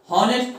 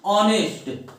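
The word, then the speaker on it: honest: होता है, अब देखिए जिसको नहीं पता वो इसको क्या पढ़ता है? हॉनेस्ट पढ़ता है, हॉनेस्ट पढ़ता है। लेकिन प्यारे विद्यार्थियों इसमें क्या होता है? यहां एच क्या होता है आपका? साइलेंट होता है। इस नाते इसको हम क्या पढ़ते हैं? ऑनेस्ट, ऑनेस्ट पढ़ते हैं।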